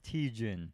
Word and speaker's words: Tietjen: I always it up it's teachin teach and Justin T Jim give around applause